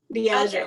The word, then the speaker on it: Diageo: Diageo.